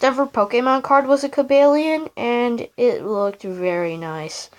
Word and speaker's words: Cobalion: Yes, it's pronounced Cobalion, FYI. My first ever Pokemon card was a Cobalion, and it looked very nice.